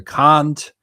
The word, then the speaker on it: Kant: in French traitor uh Emmanuel Kant as they pronounce him in English for obvious reasons because if you say can't then you get in trouble and many many others.